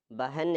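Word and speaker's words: بہن: ബഹൻ എന്നാണ് ഇത് വായിക്കുക. ഈ കൊളുത്തുള്ളതുകൊണ്ട് നമ്മൾ നേരത്തെ പറഞ്ഞു ഹ എന്ന ഉച്ചാരണം അവിടെ വരും, അല്ലെങ്കിൽ ഹി എന്ന ഉച്ചാരണമൊക്കെ ആയിട്ട് വരും. ഹ എന്ന ശബ്ദം ഉണ്ടാവും.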